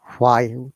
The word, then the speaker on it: why: In most of the cases, if there is W and H or H, whatever you said together, H is silent, like why, not why.